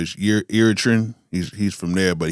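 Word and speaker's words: Eritrean: Um, I keep saying it wrong. I I want to say it's Uritrian, but Iritan, he's he's from there,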